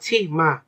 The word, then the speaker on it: 치마: করলে বা দুষ্টামি করলে আমরা বলি না ছি মা। তো এটা অনেকটা ওরকম উচ্চারণ ছিমা।